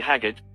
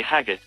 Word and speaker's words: Haggart: He was given the sobriquet Haggart, a patois pronunciation of hog heart.